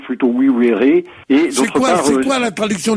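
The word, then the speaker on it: vivere: U étaient absolument le même signe, donc on prononce plutôt oui vere.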